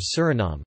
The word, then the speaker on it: Suriname: In Dutch, the official language of Suriname, the pronunciation is Suriname, with the main stress on the third syllable and a schwa terminal vowel.